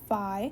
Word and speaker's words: phi: We pronounce it phi.